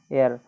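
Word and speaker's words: heir: एयर को जब हम इसको कहते हैं, हेयर नहीं कहा जाता है, एयर, तो ध्यान रखिएगा इसको।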